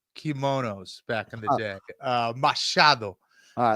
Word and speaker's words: Machado: Machado. All right, let's hear Ian. The future, Ian Machado Garry.